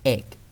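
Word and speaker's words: ache: เด็ก อะ ห๊ะ เด็ก คำ ว่า เอก a c h e r อ่าน ว่า เอก สะกด ด้วย ก ไก่ ไม่ ใช่ เอก นะ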